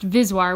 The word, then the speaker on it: VSWR: ratio z' are often abbreviated as VSWR pronounced vis wire which is how i'll